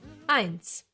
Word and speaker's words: eins: Eins. E and I together get pronounced as I, like in sky, for example. It's a German diphthong, and no, it has nothing to do with a small piece of underwear.